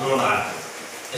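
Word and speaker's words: monarch: दो एक्सेप्शन में यहाँ पे लिखा हूँ, स्टोमक और मोनार्क। स्टोमक और मोनार्क, इसका यह स्पष्ट ये है कि अंत में CH है दोनों में, लेकिन दोनों में CH का उच्चारण क हो रहा है, तो उस परिस्थिति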